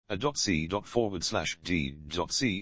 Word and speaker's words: AC/DC: performances of their music it is pronounced one letter at a time though the band are